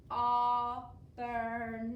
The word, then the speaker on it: Auburn: And AU is making the ah sound at the beginning.